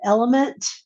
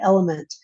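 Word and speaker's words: LMNT: there but I drank they pronounce it element it's an electrolyte water that you mix with your water you know it's salt and potassium and magnesium and I sat under the fan to feel better and so it's spelled lemt but they pronounce the element doesn't have any sugar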